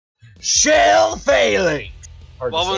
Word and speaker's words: Phalanx: Philax, how do you pronounce that? Shell phalanx.